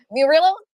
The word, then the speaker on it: Millo: and next we have Millo do I pronounce your name correctly our B from equilibria welcome space perfect pronunciation thank you very much uh